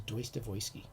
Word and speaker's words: Dostoevsky: they say deutsche weisse that's the proper proper russian translation is pronunciation is deus devoisky you can tell them